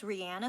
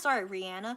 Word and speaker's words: Rihanna: I believe it's Rihanna. Sorry, Rihanna. I believe that's how she says it. Sorry, Rihanna. But she says either way is fine.